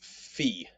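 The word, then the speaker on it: phi: one we have is fee fee has the ph sound it takes both of those and makes the ph sound or the f sound like in phone next we have key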